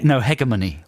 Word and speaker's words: hegemony: Yeah, spelt Hegemony. Mm-hmm. Hegemony. You're going for hegemony. Is that... hegemony.